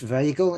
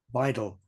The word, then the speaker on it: Weidel: And there's your candidate for taming, Alice Weigel. Is that the right pronunciation? Or Weigel? Weidel.